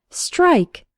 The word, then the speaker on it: strike: STR almost sounds like there's a CH sound in the middle, like str, str. It's the same as in the words strong, strange, and street.